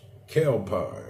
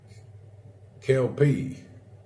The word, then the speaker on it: Kelpie: It's pronounced Kelpie. Okay. Kelpie.